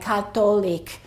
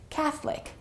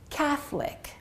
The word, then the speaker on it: Catholic: and in other languages the O is definitely pronounced so it might sound like Catholic or Catholic or Catholic but the O is always pronounced in those languages in English the O disappears and it's only two syllables and it sounds like this Catholic Catholic so let's repeat these